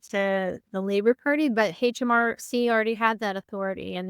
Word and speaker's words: HMRC: It's called HMRC. They pronounce their H's as H's.